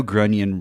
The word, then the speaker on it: Grunion: maybe it's not maybe I know Grunion rhymes with onion but I got I